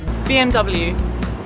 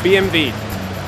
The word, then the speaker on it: BMW: или и финала чг а вот мы привыкли говорить бмв американцы говорят bmw и w а немцы говорят бемби в общем друзья как